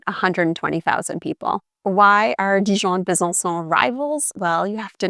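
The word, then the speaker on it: Besançon: So the city is bzon and because of the sad the little hook under the c the c is actually pronounced like an s like in other French words for example like so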